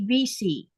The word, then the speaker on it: WC: German pronounce W as a V. Yep. It's like when you want to go to the bathroom here, they it'll it's spelled with a WC, but it's actually VC.